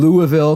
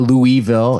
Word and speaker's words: Louisville: It's not Louisville. It's Louisville. Do you pronounce it Louisville still, though? You can. But it's just not, it's not Louise. There's no E in the middle of it.